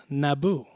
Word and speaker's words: Naboo: The word is Naboo. Naboo. N-A-B-O. Naboo. Naboo. Naboo. Naboo. Naboo. What's the emphasis on the syllable, It's bro?